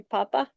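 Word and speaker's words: papá: And the word for father, a short one, could be papa, which is another example where the accent makes a difference. Papa. That would be on the last day.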